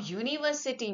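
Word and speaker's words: university: क्योंकि इसका साउंड य है। य यू य य य हमारा स्वर नहीं है। तो य का साउंड जो है अ आ इ ऐ से नहीं शुरू हो रहा है। सो इसलिए ये यू को हम यू य बोल रहे हैं।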